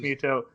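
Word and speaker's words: Mytho: It's pronounced Muto.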